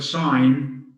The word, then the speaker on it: sign: so have a silent in the word sign we have a silent g and the word foreign